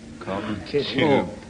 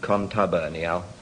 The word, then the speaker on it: contubernial: Contubernal. Is that just as it's... contubernal? Yes. Well, yes, in fact, you pronounce it contubernial.